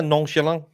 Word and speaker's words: nonchalant: nonchalant. Like I don't know, but you just say it with a little bit of hint of French. Yeah, nonchalant. Because Nonchalant. the T is silent.